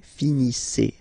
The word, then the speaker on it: finissez: Vous finissez. Okay, EZ at the end gives you the sound E. Okay, finissez, finissez.